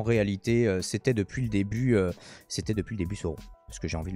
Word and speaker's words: Sauron: Et donc ici, une théorie qui prétend que Halbrand serait en réalité Sauron, puisqu'il faut le prononcer comme ça.